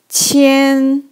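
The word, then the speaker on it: 千: a cross sure and this character pronouns like chin chin it means thousand thousand okay the third character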